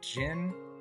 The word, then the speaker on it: John: So they said the history here says back in the 11th 12th centuries the noms would have pronounced John as jin with that e sound and then they also added the kin k i n to the end of nicknames.